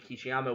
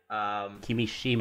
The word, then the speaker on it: Kimishima: It was announced this week when we're looking at this that Tatsumi Kishiyama will be stepping down in June. Kimishima. And I am going to butcher these pronunciations.